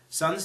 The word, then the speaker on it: SSSN: reusable source resource seven Sun's team is called sssn pronounced Sun of course it would be eight